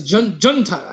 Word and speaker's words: junta: I think it's junta. I think it is. I didn't know if I should throw the H on there or not and make a fool of myself.